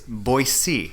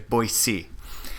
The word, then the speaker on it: Boise: we even asked some of the locals, it's Boise. And they have t-shirts and other things, magnets to remind people it's pronounced B-O-Y-C, or S-E-E, essentially, Boise.